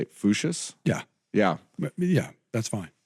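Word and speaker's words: Voetius: It's Dutch, but It's Dutch. it's Latinized. It's Foot, so it's a trick. So the Dutch pronunciation of his actual Dutch name is Foot, and then it just gets smooshed into Fuchsius.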